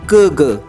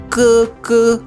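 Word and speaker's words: 哥哥: that means elder brother sometimes we hear like Google but actual pronunciation is cuckoo world number five titi titi titi that means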